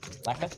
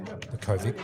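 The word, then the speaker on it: Lackovic: Lacquer? I think it's actually pronounced Lakovic, but yeah, I know. I just heard lacquer.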